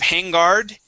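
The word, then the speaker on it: hangared: there you go okay this word is hangered so even though this is an AR instead of hangard hangard hangard all right and that's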